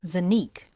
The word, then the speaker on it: Xanyic: Zanique. Zanique like unique but not Matus.